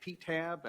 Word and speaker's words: PTAB: Our name is generally pronounced PTAB.